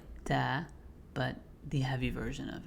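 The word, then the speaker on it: طاء: The next letter that comes from the same spot is ta. Whenever you're pronouncing ta, you have to make sure that there's a little bit of air being expelled from your mouth as well. Ta.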